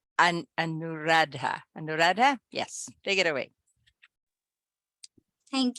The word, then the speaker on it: Anuradha: not an ah tiger I'm just trying to pronounce the name correctly and and nuradha Anuradha yes take it away thank you greetings Madam